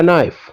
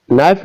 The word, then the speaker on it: knife: third he bought a knife in this sentence knife is a word which consist of K that is silent number fif number fourth